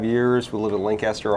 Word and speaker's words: Lancaster: We live in Lancaster, Ohio, or Lancaster as the locals pronounce it.